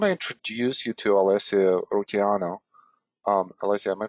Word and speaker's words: Rutigliano: And I want to introduce you to Alessio Rutigliano. Alessio, am I pronouncing the last name correctly? Rutigliano is the perfect Rutigliano. pronunciation. Okay, Yeah. Rutigliano. So I was missing like just one syllable there.